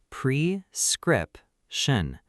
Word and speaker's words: prescription: Precript shun. Notice the stress is on the second syllable.